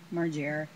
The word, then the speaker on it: Margera: How do you pronounce it again? Margera.